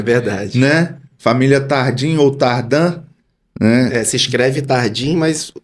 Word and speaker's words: Tardin: Família Tardim ou Tardan. Se escreve Tardim, mas o jeito correto de falar é Tardan.